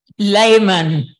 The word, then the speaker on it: Lehman: you know Lehman Layman Layman thank you for correcting it's German yeah and they pronounce it Layman all right very good